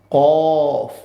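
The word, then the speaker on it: ك: একদম শেষ পর্যায়ে চলে আসছি যে নুক্তা ওয়ালা কফ এটাও আমাদের ঠোঁটকে একটু গোল করে আমরা বলব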